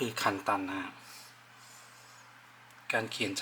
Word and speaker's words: 簡単: เป็น คันจิ นะ ครับ ก็ จะ ออก เสียง คล้าย ๆ กัน ก็ คือ คัน ตัน นะ ฮะ การ เขียน